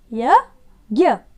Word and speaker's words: यज्ञ: लिखा हुआ है यज्ञ य ज्ञ यज्ञ ज्ञ इसको कैसे बोलते हैं ग और य दो वर्णों का उच्चारण होता है इसमें ग य ज्ञ कैसे बोले यज्ञ यज्ञ अगला शब्द